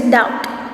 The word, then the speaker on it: doubt: So it is doubt. So B is silent over here.